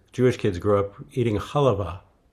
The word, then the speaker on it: halva: Halva. How do you How do you say it? Halva. Halva. We We grew up saying halva. Halva. That's how we said it in our family.